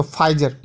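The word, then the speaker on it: Pfizer: तो अब आप ही गौर करें कि किसी कार्टून में फाइजर के बारे में, इसमें देखिए PHIZER जो लिखा है उसमें P साइलेंट है, तो फाइजर, ठीक है।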